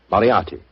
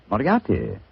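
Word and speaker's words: Moriarty: I'm afraid I'll have to begin calling it the way it looks. M O R I A R T Y. Miati. Moriati.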